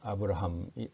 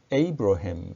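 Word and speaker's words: Abraham: 다든지 할 때는 어 미국 사람이라면 아브라함이 라고 발음하는 대신에 에이브러햄 이라고 발음 할 것이므로 알아 듣는 데에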